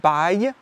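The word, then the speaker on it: bail: and buy a lease pronounced like buy which is ironic because once you sign it you are not going anywhere.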